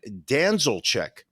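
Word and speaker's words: Danilczyk: we're gonna talk about Brian danzelcheck which is I believe the way he pronounces his name we're gonna I'll spell it it's a d-a-n-i-l-c-z-y-k he lives in West Babylon um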